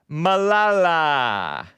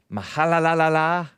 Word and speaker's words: Malala: because I forgot to tell you guys about Malala. I mispronounced her name because I didn't know her name. Mahalalala.